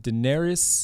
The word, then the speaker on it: Daenerys: Um, Emilia Clarke, I don't know how to pronounce her name. Is it Daenerys? Yes. Daenerys.